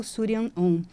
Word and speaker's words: Shuryan Om: É S-H-U, Su, R-Y-A-N, Surian, Om, do mantra Om, O-M, porque sim, todos nós precisamos mantrar para elevarmos nossa vibração e criarmos prosperidade.